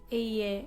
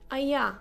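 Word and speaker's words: אֶהְיֶה: This is how you pronounce it. Eye, asher eye. I will be who I will be. Rather, you know, not Aya, asher Aya, because Aya is a correct word.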